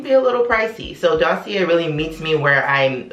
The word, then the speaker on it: dossier: introduce you guys to a dossier that's how you pronounce it because it's a french company so i'm going to say dossier because you know i'm